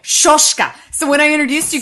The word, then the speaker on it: Soska: And she's like, "I just really want to go over with you the correct pronunciation of their last name." And she was like, Soska, and I'm like, Soska. And she's like, Soska.